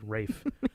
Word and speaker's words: Ralph: Maybe it's because his name is spelled Ralph, but he makes people pronounce it Rafe. Like Anna Ferris. Honestly, I didn't realize that until you told me that. Completely kills the mood. Rafe.